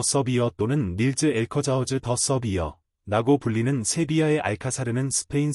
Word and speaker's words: Alcázar: 어원하 스페인어 용어 엘커자어 엘카로 발음는 라틴어 캐스트럼에서 파생된 성 또는 궁전을 의미하는 아랍버에서 유래했습니다.